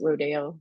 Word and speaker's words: Rodeo: um or Rodeo times Rodeo is how he would have pronounced it um and uh because it was Mexican it was supposed to be you know South of the Border kind of idea and